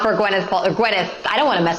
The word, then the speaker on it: Gwyneth: It's Gwyneth, actually.